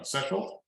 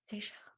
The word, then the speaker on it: Seychelles: One of the best I ever did was that's the one in, I don't know how to pronounce this wrong, Sechel? Sunshine Coast, that's It's Seychelles.